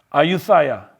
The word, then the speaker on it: Ayutthaya: The Kingdom of Thailand was established at Ayutthaya. Let me see if I can pronounce that again. Ayutthaya, on the Chao Phraya River.